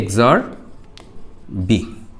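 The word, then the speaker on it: XOR: তো এটার উচ্চারণটা কি হবে? এ এক্সরবি বা এক্সক্লুসিভ বি এ হচ্ছে এক্সর।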